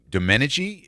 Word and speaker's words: Domenici: this morning from Southland Sod Farms is John domeni is that how you say your last name